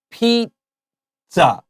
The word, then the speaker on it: pizza: pizza really clearly because I always hear people say it wrong yeah ISA they make it one long word listen to how I say this there's a little done done in the middle Pete saw Pete za